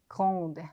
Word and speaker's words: grande: 자, 요거 발음 안 되죠? 끝에 petit. 근데 을 붙여주니까 petite 발음이 되죠. 마찬가지 요것도 뭐 그랜드 오픈 이런 거 많이 보셨죠? 큰이라는 의미인데 사람한테는 키가 큰 grand 발음 안 되고 있죠? 여성은 grande 발음이 된다.